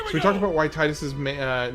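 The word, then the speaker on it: Tidus: any uh any explanation you you come up with that makes it make sense for his name to be Titus and not Tetus, I'm down with.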